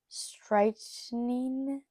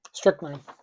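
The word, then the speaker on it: strychnine: cage, intending to lethally inject the shark with stretching. I think that's how you say it. Strickenine. Strick nine.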